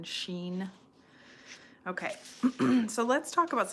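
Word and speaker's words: xin: okay the heart Shen you could spell that s hen uh the Chinese pinion spelling is x i n Sheen okay so let's talk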